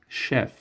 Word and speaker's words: chef: Chef CH به شکل ش تلفظ میشه.